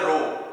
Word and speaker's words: rho: तो कैसे लिखेंगे आप इसको, डेंसिटी का सबसे पहले वो क्या होता है सिंबल, ये इसको बोलते हैं रो, RHO, ऐसे प्रोनाउंसिएट करते हैं इसको, रो। तो रो के क्या फॉर्मूला